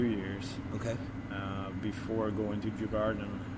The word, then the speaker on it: Djurgården: I'm gonna be terrible with the pronunciation of this. Djurgården?